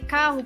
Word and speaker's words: carro: é mais fraca e já as palavras barraca com céu e carro possuem dois ex para que o som entre as vogais fique forte e é muito bem